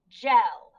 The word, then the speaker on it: gel: try the next one so we know it's going to be that soft g because of the e so it sounded out j e o remember it's a short e because there's no e at the end so let's try one more time all together gel so we have cell